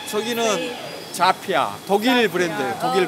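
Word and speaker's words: Zhafir: 아, 혹시 이제 발음은 어떻게 하면? 아 저기는 자피아, 독일 자피아. 브랜드예요. 독일 right. 브랜드. Zafir.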